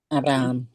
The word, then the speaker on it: Abraham: Eh eh, justamente este ejemplo confirma que la H es muda, ¿sí? Porque, repito, no decimos Abraham cam, sino decimos Abraham. Abraham.